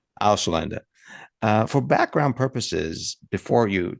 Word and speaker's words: Ausländer: Could you pronounce it so that we get the German right here, please? Ausländer. Ausländer.